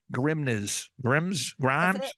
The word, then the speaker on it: Grimnes: Because you spell your last name, it's Grimnes. So someone's going, Grimes. That's it. You got it the first time. If you add an S, you will pronounce it correctly.